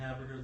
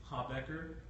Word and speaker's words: Habecker: One, we've been pronouncing Haberger's last name wrong. It's Habecker.